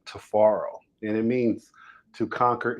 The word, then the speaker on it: Tifiro: everyone about your name tafaro yeah well my name is tafaro uh the name is uh is spelled in the African pronunciation with t-i-f-i so the I sound like A's but they're really they're